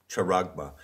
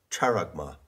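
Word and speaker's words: χάραγμα: the word character now i often mispronounce greek words by putting the accent in the wrong place so i have said character but no it's charagma and charma is a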